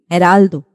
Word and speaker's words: Geraldo: HED sound for example Geraldo in English we'll say this word as Geraldo but in Spanish it is going to be Heraldo very soft Edge you're